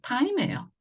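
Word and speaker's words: time: 이는 소리가 안 나니까. 그래서 이럴 때 앞집에 가서 받침으로 붙는다. 네, 타임이에요.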